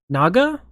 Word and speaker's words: Naga: But teacher said, I have since learned there are regional differences, yet I have always heard pronounced the word as Naga, like the snake god thing, rhyming with Dega, the professor wrote.